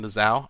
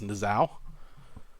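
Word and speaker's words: Niuzao: Alright, so I think I pronounced that correct again. Nizao. Again, I like to call him Nuzio, but I've been told it's Nizao. I like to call him Nuzio, though.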